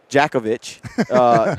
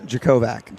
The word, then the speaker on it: Jakovac: Jakovic.